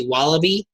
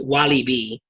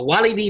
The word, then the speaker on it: Walibi: we wanted to know because we've heard different pronunciations of this before a lot of people just say wallaby like the animal and we found out or